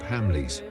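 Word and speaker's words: Hamleys: The ending scene of Eyes Wide Shut was filmed at London's centuries old toy shop Hamley's which rhymes with Stanley's as if Kubrick himself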